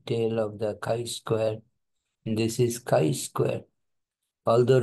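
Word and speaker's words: chi-square: will lie in the right tail of the kai Square this is Kai Square although written as G but it is pronounced as Kai Square K Square distribution okay so we have to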